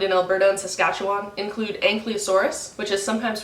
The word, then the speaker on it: Ankylosaurus: Some of the most famous dinosaurs that we found in Alberta and Saskatchewan include Ankylosaurus, which is sometimes pronounced Ankylosaurus, and T-Rex.